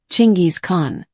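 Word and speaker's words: Chinggis Khan: If you're trying to be historically accurate, that's the name you should be using, Chingis Khan.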